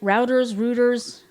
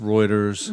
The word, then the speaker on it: Reuters: Routers. It's actually pronounced Reuters.